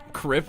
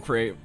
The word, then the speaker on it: crepe: Crip into it? Stop that? What, the crip shop? Come and get your crips? You blood or crip? No, I'm crepe. It's more pronounced like grape.